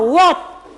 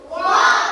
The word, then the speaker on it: what: terjadi kesalahan pengucapan kata seperti kata ini kata What coba sama-sama what what what what ya ada yang baca V Tadi Kalau saya tidak